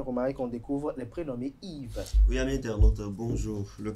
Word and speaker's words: Yves: Il viendrait du mot celte qui s'écrit en 2 lettres, I et V, Yves en prononciation, ou germanique, Iwa en 3 lettres, qui signifie If, un arbre sacré dans de nombreuses cultes anciennes, symbole d'éternité notamment.